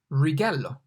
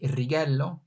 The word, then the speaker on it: righello: So rather than rolling it, righello, we could say as R in rock, righello. It sounds pretty similar. So if you can roll the R and say righello, that's fine.